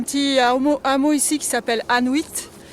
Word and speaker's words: Anuit: Et à savoir qu'il y a un petit hameau ici qui s'appelle Anuit. Ça s'écrit A2N-U-I-T, ça sonne comme Inuit.